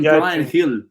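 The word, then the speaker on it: Bryan Gil: i thought he said hill i was like what the that's that's how you pronounce his name it's like brian hill man like the spanish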